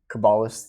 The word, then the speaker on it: Cabalist: Cabalist.